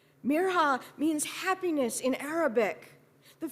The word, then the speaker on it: Mirha: My name is Mirha, not Maya, she told Hayden proudly, and explained how to pronounce it properly.